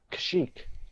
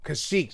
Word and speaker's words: Kashyyyk: Chewie's planet was No, Kisha? that's the problem. Kashyyyk. Kashyyyk. That's how it's pronounced.